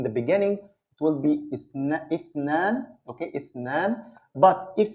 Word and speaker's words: اثنان: and of course, we're going to learn the pronunciation. So the next one is اثنان, اثنان.